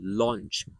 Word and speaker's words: launch: So au here is like um so l au here is like l o in the Chinese pin. So launch law.